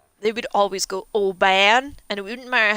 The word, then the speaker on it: Oban: O-B-A-N. I'm from Oban. It's pronounced Oban.